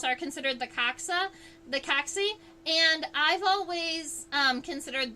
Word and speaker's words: coxa: good example of one I like to say that the coxy is the hip bone um spelled like the coxa is the hip bone